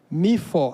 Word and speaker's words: Mifô: Mifo. A pronúncia é Mifo.